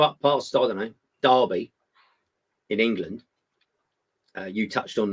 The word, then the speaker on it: Derby: It's spelled D-E-R. How do you get dar out of that?